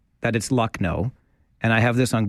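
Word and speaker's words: Lucknow: in the bleep okay it's bleep no it's luck no so it's not bleep now it's it's luck now it's bleep no it's luck no and that's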